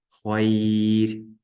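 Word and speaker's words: خير: Если перед ра сукуном стоит буква я сукуном, то ра читается мягко. Например, хайр.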